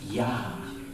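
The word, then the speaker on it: יָה: And that is pronounced yah. Yah. Like almost like breathing.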